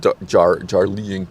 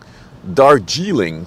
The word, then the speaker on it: Darjeeling: Not a fan of the Jarlín tea. How do you pronounce this? Darjeeling tea.